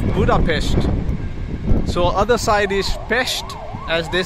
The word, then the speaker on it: Pest: so other side is pesht as they say even though it is p-e-s-t it is pronounced as pesht and this side is